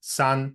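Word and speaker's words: さん: First, we have the Sino-Japanese word for three, which is san, and this is actually still how it's pronounced in Mandarin as well.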